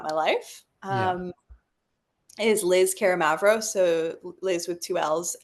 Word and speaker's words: Karamavros: Is Liz Karamavros, so Liz with two L's, and then Karamavros. Should I spell it?